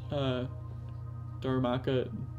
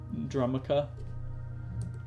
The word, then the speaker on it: Darumaka: When I was younger, I used to pronounce Dharmaka Drumaka.